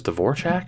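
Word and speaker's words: Dvořák: Although I believe the proper way to pronounce it that I was hearing was Dvorak or something similar to that.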